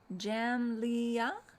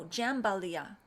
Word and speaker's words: jambalaya: Jamlia? Oh, no, Jambalaya, Karen.